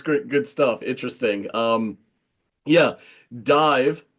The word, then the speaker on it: DIIV: Yeah, Dive, pronounced and formerly known as Dive, as in DIVE, is an American rock band from Brooklyn, New York City, formed in 2011.